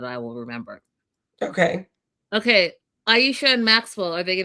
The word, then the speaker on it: Aisha: I learned to say her name because I listened to what the mom said and I rewound it to be like, hey, is that what she's saying? So it's Aisha.